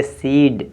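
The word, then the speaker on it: cede: ये भी साइलेंट है यहां ई साइलेंट है इसमें ई ई साइलेंट है इसको पढ़ेंगे सीड सीड माने सौंपना सीड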